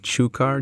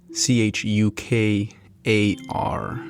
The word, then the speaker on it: chukar: some chocolate covered cherries those chew ukar cherries or chucker cherries you know the ones with the little bird I don't know how to pronounce that word but it's uh c h u k a r I believe chukar cherries um but anyways